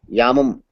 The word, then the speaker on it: yamam: j m a y yamam is the correct y a a m a yam okay okay or people also call it Jama like yamuna jamuna yes